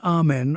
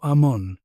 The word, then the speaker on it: Amun: only consonants were recorded scholars insert vowels often e to make words pronouncable amun might have been Amen or Ammon. Pronunciation is educated guessing.